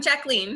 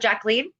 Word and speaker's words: Jacqueline: much for joining us you said jacqueline yeah jacqueline okay so it's not jacqueline okay no yeah it's french oh okay jaclyn okay so you actually like to pronounce it wow yeah i am actually 100 french so well no that's not true it's 50 french but i have the